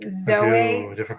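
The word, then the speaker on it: ζωή: about this before like zoey and i actually looked up how to pronounce it i thought it was zoey it's zoe zoe or bios right so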